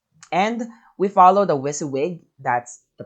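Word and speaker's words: WYSIWYG: be HTML okay and and we follow the whis wig that's the pronunciation of this particular um group of uh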